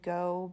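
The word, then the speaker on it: Geaux: go which is Fun the shop is like plan and go but it's spelled g-e-a-u-x so that's fun I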